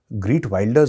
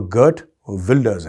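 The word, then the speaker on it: Geert Wilders: आया है कि साहब आप ने जो प्रोनाउंस करा था ग्रीट वाइल्डर्स नहीं है वो वो गर्ट वेल्डर्स है गर्ट वेल्डर्स सो आई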